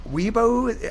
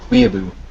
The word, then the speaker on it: weeaboo: Anyway, we love the Weebo. I'm so sorry. Did I pronounce it wrong? What is it again? Weeaboo. Weeaboo.